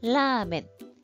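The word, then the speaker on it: ラーメン: 라멘. 히라가나 발음으로 여러분들이 조금 발음하기 쉽게 써보면 라멘 장음으로 들어갑니다.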